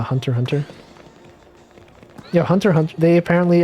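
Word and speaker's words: Hunter × Hunter: family i just know the x is silent like in a hunter hunter yeah hunter hunt they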